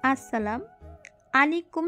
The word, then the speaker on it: আসসালামু আলাইকুম: দ্বারা অর্থ ঠিক থাকে সালামের সঠিক উচ্চারণ হলো সব শুনেই তাজেল বলল আসসালামু আলাইকুম এবার ঠিক আছে মেবিন